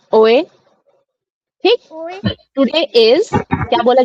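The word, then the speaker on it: hoy: जो लास्ट में बोला ओए बोला क्या पता नहीं हां ओ एच ओ वाई ओए लेकिन एच तो साइलेंट है हमें पता है है है ना?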